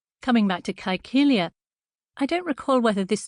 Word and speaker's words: Caecilia: monument, the tomb of Caecilia Metella. And a little aside here, especially for audiobook listeners, that's a historic pronunciation of Latin using the hard C in the middle of Caecilia.